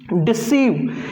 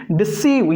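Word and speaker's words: deceive: डिसीव, डिसीव, यहां पर भी ई जो है ये आई के पहले उच्चारण में, पहले प्रयोग में लिया गया है।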